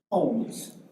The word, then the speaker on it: Holmes: May we please have the proper pronunciation of your last name? Holmes.